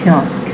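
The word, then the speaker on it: kiosk: میدیم وردینگ پس چکینگ کیسک بچهها کیوسک نیست کیسک اوکی تلفظم دقت کنید از این قسمتی که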